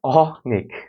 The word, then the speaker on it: অনেক: তো ব্যাপার হলো অনেকে উত্তর করছে যে অনেক অনেক মানে অ এর উচ্চারণ যদি অই হয় তাহলে সেটা হবে বিবৃত